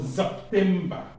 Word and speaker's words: September: This September is not pronounced S, it's pronounced Z. So September, September.